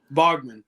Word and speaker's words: Baughman: But Baughman is what I say.